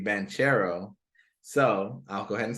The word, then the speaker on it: Banchero: point guards but Paolo Ben Carroll I've heard today is his pronunciation should be banchero so I'll go ahead